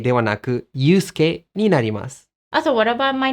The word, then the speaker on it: Yusuke: So Akari becomes Akari, Tanaka becomes Tanaka, and Yusuke becomes Yusuke. 日本語の場合はすが入っていますね。でも実際にそのうの音をほとんど発音しないので、外国人にとって2つの音のように聞こえます。なので、Yusuke ではなく Yusuke になります。